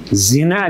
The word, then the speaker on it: Зина: Эч качан зина деп эсептелбейт, айтылбайт сиздин келинчеңиздин аты. Эмне деп айтылат? Зина деп айтылат аларда. Ударение ийге берилет.